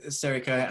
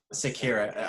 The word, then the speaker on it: Sekiro: Sekiro. I mean, pronouncing it wrong, so I've been corrected for one.